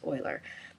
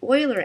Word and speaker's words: Euler: It looks like it's Euler, but I think the correct pronunciation is Euler.